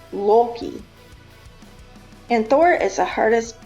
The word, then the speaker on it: Loki: Loki is correctly pronounced Loki.